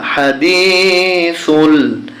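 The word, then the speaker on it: حديث: পেশ লামে জজম ফুল হাদিসুল হাল আতা হাদিসুল গইন আলিফ জবর গিন জবর ইয়াতি যখন আমরা এখানে থেমে যাব তখন উচ্চারণ হবে হাদিস হাদিস এবার দ্বিতীয় আয়াত দেখুন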